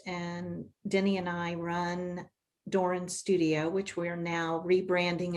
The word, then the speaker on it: Doran: Doran. Well, yeah, often pronounced Doran because of Duran Duran, and that's how old we are. It's spelled differently, but hey.